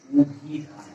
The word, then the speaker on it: অভিধান: অভিধান, আদ্য অ এর পর রসই এর কার চিহ্ন আছে, তাহলে অ এর উচ্চারণ হবে উ এর মতো। অভিধান সঠিক উচ্চারণ অভিধান।